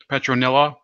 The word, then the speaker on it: Petronella: union by marriage between the queen of Aragon petronella am i pronouncing her name right where yes yes sorry